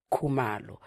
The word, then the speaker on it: Khumalo: Nkosiyati Khumalo.